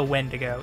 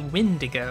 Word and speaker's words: Windigo: it's a unique monster it's not a wendigo it's a windigo it's a windigo it's